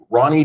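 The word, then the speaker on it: R9y: month uh get on ronnie. deev that's a uh nomin uh for reliability R9 y we pronounce it Ronnie ronnie.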